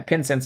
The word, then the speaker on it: Pincince: you're fine but yeah pen sense like incense with a p but yeah I really